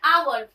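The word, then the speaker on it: hour: फिर देख रहे हैं आवर, अब आवर में क्या है, एक साइलेंट होता है, इसको कैसे लिखते हो आवर इस तरीके से लिखोगे ना, और ना वॉवेल साउंड है, इसलिए यहाँ पे क्या आ जाएगा एन आ जाएगा।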